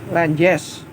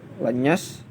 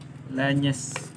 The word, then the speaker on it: Lenyes: Lenjes. Gimana bacanya? Lenyes. Lenjes. Bacanya apa ini? Lenyes.